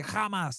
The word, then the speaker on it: Hamas: And for every Zionist that I debate on this topic, they're like, "No, Hamas killed them." Or, well, they say kamas. That's how the Israelis pronounce it. Kamas.